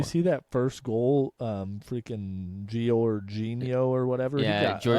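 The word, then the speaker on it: Georginio: Freaking Giorgino or whatever. Yeah, he got up for it's that header. pronounced Jorginho, Mason, just like the Arsenal player.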